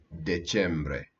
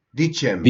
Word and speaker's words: dicembre: and Novembre, decembre. Dicembre.